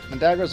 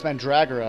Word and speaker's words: Mandragora: Oh, it's Mandragora. I've been saying it wrong for my whole life.